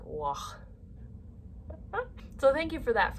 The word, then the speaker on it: Waugh: It's like war and raw, like Waugh.